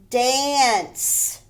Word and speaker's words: dance: This is the soft C sound or the S sound. Dance. Hedge, dance. The C makes an S sound in that word.